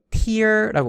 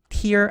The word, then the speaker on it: tear: 어떤 사람이 이거 tear라고 발음하는데 tear 아니고요.